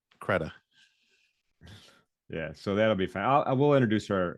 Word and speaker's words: Credé: you told me it's it doesn't look like you should pronounce it that way right right Keda yeah so that'll be